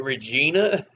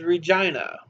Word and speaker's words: Regina: is in Saskatoon um I used to call it Regina because I knew people named Regina with that same spelling and I'm like Regina but no apparently it is Regina I've heard one of